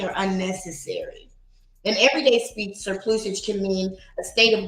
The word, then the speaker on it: surplusage: Wait, I didn't even pronounce it right. Surplusage. There we go.